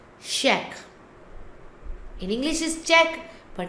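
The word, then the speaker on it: chèque: Then is check. Because the CH combined sound is sh. We pronounce check.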